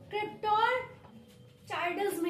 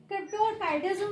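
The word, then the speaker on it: cryptorchidism: क्रिप्टोरचाइडिज्म कहते हैं, ठीक है, क्रिप्टोरचाइडिज्म भी कहते हैं। और अगर मैंने इसका प्रोनाउंसिएशन कई जगह देखा तो चाइडिज्म भी है, काइडिज्म भी है, जो आपको सुटेबल लगे वो आप बोल सकते हैं।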